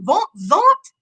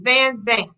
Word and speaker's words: Van Zant: i say what's up von zaunt but that's not her name her name is van zandt now how how would